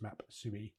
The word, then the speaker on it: Mapsui: So, instead, I've decided to use um an open source option, which is called um maps or maps ueIe, it looks like, but they say it should be pronounced maps.